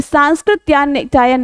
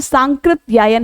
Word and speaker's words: सांकृत्यायन: लेकिन व्याकरण की दृष्टि से ये सांस्कृतयन नहीं बल्कि सांकृत्यायन होता है।